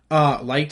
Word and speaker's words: Licht: I think this is going to go to Jason Licht. Light, I think is how you say his name, the Tampa Bay Buccaneers general manager.